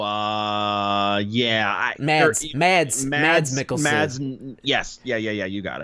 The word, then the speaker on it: Mads Mikkelsen: Mads Mikkelsen.